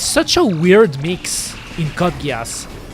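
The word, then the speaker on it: Code Geass: Oh, do do you do you mean cut geese? Do you mean cut geese or cut gas? Actually, it's it's pronounced Kodgas because it's not far from the truth.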